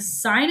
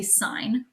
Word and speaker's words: sine: the hypotenuse so the sine of the angle which we abbreviate it looks like sin but you don't say sin you say sign okay and i'm gonna